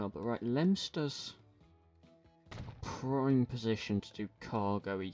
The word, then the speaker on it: Leominster: It's not pronounced Leominster. Well, at least the place, this is in the UK, this town is named after. It's not pronounced Leominster, it's pronounced Leominster.